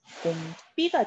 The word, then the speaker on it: 봄비: 자, 예를 들어서 자, 봄비 발음은 봄비가 되죠. 자, 봄이라고 하는 시간과 연결이 되어 있기 때문에 된소리 대기가 일어납니다.